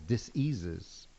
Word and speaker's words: dis-ease: cures for all these diseases, we're misinterpreting what a lot of the herbalists are saying. I noticed how you broke that down into 2 syllables.